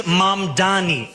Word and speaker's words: Mamdani: And furthermore, the name is Mamdani.